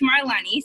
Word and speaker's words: Melanie: said your name correctly you're close it's my Lonny so you're very close good job because not everybody can say it right okay guys my name is Melanie I've been in the